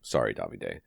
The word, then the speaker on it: Davide: He and it is Italian, and it does have an E on the end. And that should be the Davide.